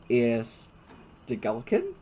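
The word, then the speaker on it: Eir Stegalkin: Air Stegulkin?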